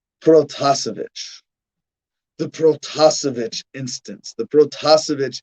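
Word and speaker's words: Protasevich: cool name that we should know how to pronounce roman that's his first name that's the easy part second name protozovic the protozovic instance the protocol incident you will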